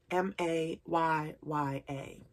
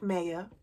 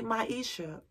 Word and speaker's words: Mayya: It looks like Mayya. And I had an uncle, sidebar, who used to call me Maisha. I'm like, you know what, Uncle Dave? That's a lot. You put extra syllables to that. That's a bit much. It's just Mayya.